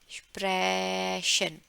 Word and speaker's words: sprechen: speak, है ना, बोलना, इसका प्रोनाउंसिएशन होएगा sprechen। ठीक है, जैसे एक्सप्रेशन होता है ना इंग्लिश में, एक्सप्रेशन प्रेशन, वैसे ही एक्सप्रेशन।